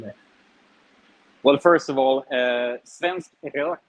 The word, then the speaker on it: svensk rök: Well, first of all, svensk rök, which is the way to pronounce it.